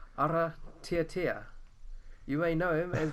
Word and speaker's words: Aratiatia: It's Aratiatia. So you roll the R, and then it's Aratiatia.